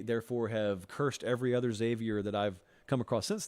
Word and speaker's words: Xavier: I go really, really hard on the X, and it's just Xavier. It's not X Xavier.